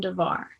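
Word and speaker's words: דָּבָר: it's a contra name de ver is just pronounced differently than davar davar is the divine word the ver is a pestilence when you depart from the word so what determines whether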